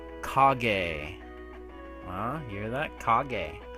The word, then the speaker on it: Kage: Kage. I said it right. I think. Or Cage. I don't give a fuck. Legend of Cage. This game's pretty cool.